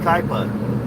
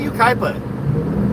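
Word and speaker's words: Yucaipa: If it's Ukaipa, why don't they spell it like Ukaipa? Kai. Why isn't it Y-U-K-Y-P-A? Ukaipa. That'd be Ukipa. Ukaipa. Or Y-U-K-I-E-P-A. Ukaipa. Yeah, that'd be better. Ukaipa.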